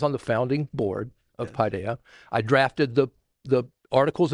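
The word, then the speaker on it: παιδεία: admonition is the Greek word pidea and it's the way it's pronounced pi deh pidea and so um but the word is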